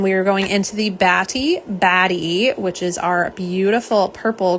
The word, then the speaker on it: Batty: I would, I'm trying to make sure we pronounce the T's, so it is Batty, like bats and Batty.